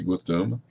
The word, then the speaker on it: Gautama: Bom, Gotama, escreve-se Gautama, pronuncia-se Gotama, era filho do rei Suddhodana e da rainha Maya.